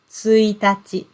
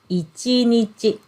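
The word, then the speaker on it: 一日: meaning the first day of the month we pronounce this word as suitaci tsuitachi okay and then when we use this same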